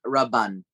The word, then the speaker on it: Raban: Number two is that the way that we pronounce it, at least the family pronounces it, Chacham David Sasson Raban.